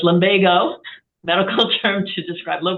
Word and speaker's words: lumbago: lumbago into uh online to see how to pronounce it I wasn't sure if it was lomago or lomago so it's lomago medical term to describe low back pain in